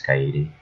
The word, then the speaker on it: Kaede: Well, I would say Cade, but I should at least say it right one more time. Because I'm pretty sure all of you hate me for saying it as Cade when it's Kaede.